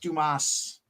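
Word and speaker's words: Dámaso: seven a seven action damaso it's pronounced Dumas oh these are great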